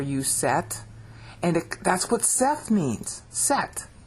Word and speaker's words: Seth: set, and that's what Seth means. Set. See, Seth means appointed. In English, it's pronounced set.